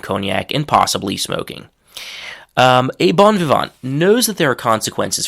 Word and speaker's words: bon vivant: So that's the French pronunciation. English pronunciation is bon vivant. So a bon vivant is literally a person